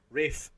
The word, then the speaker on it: Ralph: Rafe. For me. Rafe. Ray? Rafe. Ray? Rafe. It sounds like R-A-F-E. Rafe.